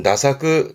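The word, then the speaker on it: 駄作: 이게 태작이라는 건데 일단 발음은 나사 나사그합니다.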